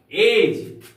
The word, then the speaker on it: edge: एज, EDGE, एज, यहां पर D silent होगा क्योंकि जी के पहले आया है, यहां डी का उच्चारण नहीं होगा।